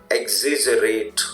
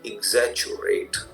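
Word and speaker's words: exaggerate: से देखिए, ध्यान देखिए, वैसे जनरली लोग इसको एक्सिजरेट, ओके राइट, बोल देते हैं, बट इसकी जो राइट प्रोनाउंसिएशन है वो है आपकी एग्जैचुरेट। देखिए ध्यान से सुनिए, एग्जैचुरेट, एग्जैचुरेट, ये मैंने लिखा है इसलिए ताकि आप कंफ्यूज ना हो।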